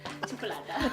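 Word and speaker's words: xocolata: Well, my pronunciation in Catalan is yeah. Chocolata. Chocolata with the X.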